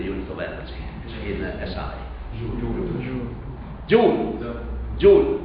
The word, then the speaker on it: Joule: And Joule was not, Preston Joule was born in England, and it was Joule. Okay? In some cases I will emphasize some pronunciation that is not usually said right from by the Italian student.